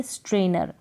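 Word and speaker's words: strainer: इसको इंग्लिश में हम बोलेंगे स्ट्रेनर। क्या बोलेंगे? स्ट्रेनर। स्ट्रे, STRAIN, स्ट्रेनर, NER, स्ट्रेनर, स्ट्रेनर। इस तरीके से आप इन स्पेलिंग्स को याद भी कर सकते हैं, थोड़ा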